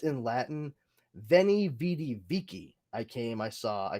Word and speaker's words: Veni vidi vici: It was not pronounced V. It was pronounced W. It was a W. So like Julius Caesar's famous quote, "Veni vidi vici," is actually pronounced in Latin, "Veni vidi vici."